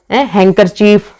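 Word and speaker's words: handkerchief: Next silent D आ जाता है, जैसे कि Wednesday, sandwich, हैंकरचीफ, as, handsome, जज, ग्रैंडफादर।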